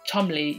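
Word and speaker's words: Cholmondeley: crease is that marquis marquess of chumley yes you pronounce it chubbly i know how to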